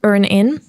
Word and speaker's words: EarnIn: So Stan is actually CISO at EarnIn. Did I pronounce it correctly?